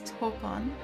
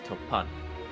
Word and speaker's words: Topan: Its proprietor was a middle-aged gentleman, then age 56, by the name of Yorihiko Tokitsu, known affectionately by the most as Topon. Nope, it's Topan. Topan.